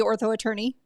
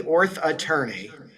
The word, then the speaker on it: Orth Attorney: Yeah, it's the Orth Attorney. The That throw Orth Attorney. Orth Attorney. I was trying to make it the same number of syllables as orthodontist. Apparently, I found out since then Ortho Attorney is much less confusing.